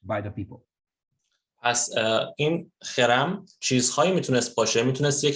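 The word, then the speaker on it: חרם: خب پس ما این کلمه رو داریم در عبری که تلفظ درست‌ترش همونطوری که استاد میگن با خ شروع میشه، اولش خرم گفته میشه.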